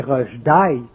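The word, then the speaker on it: Rushdie: En tout cas, Rush dit, Rugdi là, si on le prononce à l'anglais, à l'anglaise là, c'est rush daï mort accéléré.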